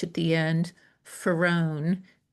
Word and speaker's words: Farone: And it's with an H at the end, Farone, like far one.